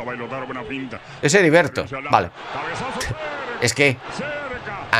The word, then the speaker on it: Heriberto: Es Heriberto. Vale. Es que. Con algunos lo que es la H se pronuncia como así, como sería en un principio, como estaba diciendo Geriberto, o como en los Simpsons, ¿vale?